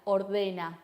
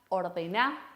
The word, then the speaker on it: ordená: No te dirían ordena tu cuarto, te dirían ordena tu cuarto. Fíjense esa acentuación en la última sílaba.